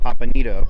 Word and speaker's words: Pampanito: historic pier 45 and going on the USS pampanito that's actually how you have to pronounce it I decided to actually take a